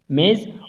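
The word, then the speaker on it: maize: हुआ है, या तो आपका प्रोनाउंसिएशन देखिए, ये होता है MEAIZE मेज, और ये है MAYS मेज, ठीक। तो आप प्रोनाउंसिएशन देखेंगे कि ये सिमिलर वर्ड है, ठीक। आप प्रोनाउंसिएशन करोगे मेज मेज, ठीक, मेज मेज, तो ये सिमिलर होता है।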